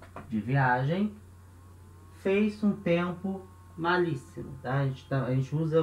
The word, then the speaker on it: malísimo: A diferença é que em espanhol vai ter um S só. A gente não tem dois S no espanhol, é um S só. Malíssimo. Mas a pronúncia é a mesma, íssimo. Ele continua.